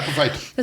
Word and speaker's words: epiphyte: I always struggle with this name, an epiphyte. Is that how you say it? Yeah, epiphyte.